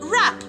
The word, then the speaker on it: wrap: And letter W is silent in the words wrong and wrap.